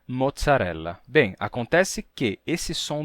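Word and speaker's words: mozzarella: no português atual bem Vocês sabem que em italiano e eles têm o som de T né que aparece em palavras como Palazo grcia e mozzarela bem acontece que esse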